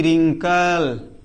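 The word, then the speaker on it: wrinkle: डब्ल्यू आर आई एन के एल ई रिंकल। देख रहे हो ना? ये डब्ल्यू के बाद में आर आ जाए तो डब्ल्यू हमेशा साइलेंट रहेगा।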